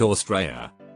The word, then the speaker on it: Australia: Just for your future reference, saying an Aussie sounds very wrong to us Aussies. An Aussie is a person, but you were in Australia, pronounced Australia.